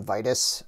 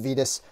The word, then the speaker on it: Vitus: i always call him vitus but the four horsemen did confirm that his name is pronounced vetus and um i will